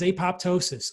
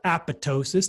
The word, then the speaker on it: apoptosis: go beef tallow increases apoptosis or apoptosis depending how you say it and uh decreases aberrant